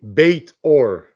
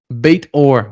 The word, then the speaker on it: Beit-Or: you say let your last name in Danny bate Orr baitor awesome yeah Danny bait or and he has